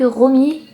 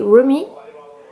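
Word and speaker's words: ROWME: Alors je pense que ça se dit ainsi, ça s'écrit R-O-W-M-E. Donc moi, pour moi ça se dit Romy.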